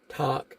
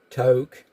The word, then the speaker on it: Tok: uh told me that it's not talk it's toke so I apologize to